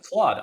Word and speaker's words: Claude: Claude. Um C L A U D E. It's made by a company called John Jean Claude. Like JeanClaude.